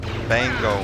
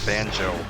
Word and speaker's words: Bango: to pull it together Bango man b-a-n-g-o not banjo for Waluigi and